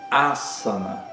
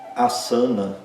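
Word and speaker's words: आसन: Nessa palavra, o primeiro a é longo, os outros dois são curtos. É a palavra que representa as posturas, por exemplo, do do ratoga, né? Então, não é a sana, né? O primeiro a é forte, é longo, é aberto.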